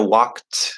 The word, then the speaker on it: walked: if we have um we know walked is going to be the E is silent uh the D here is a t sound because of the k uh walked and then top so